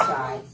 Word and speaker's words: Shai: Okay, so that's when you denote my difference of writing it, but they both are pronounced Shai.